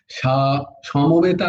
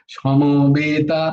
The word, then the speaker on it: সমবেতা: ধর্মা ধর্ম ক্ষেত্রে কুরুক্ষেত্রে শ্যামা, এই দেখো, সমবেতা নয়, ধর্ম নয়, ধর্ম ধর্ম ক্ষেত্রে কুরুক্ষেত্রে সমাবেতায়ুৎসব। আচ্ছা, এই যে সমবেতা, এটা বেতা বলো না কখনো। সমবেতা, সমবেতা নয়, সমাবেতা। দেখো বের উচ্চারণ, বয়ের উচ্চারণ হবেই না প্রায়।